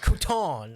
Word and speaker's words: crouton: That's all you gotta do to make something sound bougie is like add emphasis at the last syllable. Like crouton. I'm having a crouton.